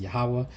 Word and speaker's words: Yahawah: translate that in hebrew some people pronounce it differently i pronounce it yahawah it means exists or